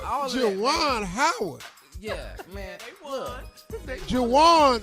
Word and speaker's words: Juwan: Jawan rhymes with Deshaun.